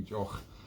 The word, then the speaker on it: Deoch: And it's a Jock is Gaelic for a drink, spelled with a D, but I won't go into the weird pronunciation of the Gaelic language.